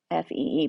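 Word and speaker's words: phi: this is the Greek letter Fe so it's pronounced Fe basically but it's spelled p hii okay so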